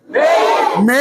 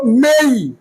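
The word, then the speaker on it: May: এই April April মেই মে না বলো মেই মেই জুন জুন জুনের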